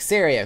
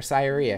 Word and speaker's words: Saria: Like Saria, who pops up. I used to call her Syria because I did not know how to pronounce her name.